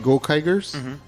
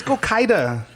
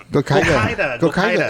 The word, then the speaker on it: Gokaiger: The first Alien Sentai team were the Gokaigers. And the first Alien Power Ranger team were the Go what? The Gokaiger. Wow, that sounds like anti-Semitism if I've ever heard it. It's Gokaida. Gokaida.